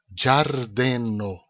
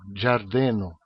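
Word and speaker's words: ĝardeno: O jo tem essa pronúncia, giardeno, né? É a pronúncia que a gente pronuncia em português, D na frente de I, di. Então é o jo, giardeno.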